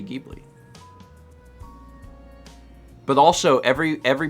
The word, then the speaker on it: Ghibli: it deeply is because i've pronounced it um ghibli and have been criticized for that it's happened in the past so now i say gheebly but also every every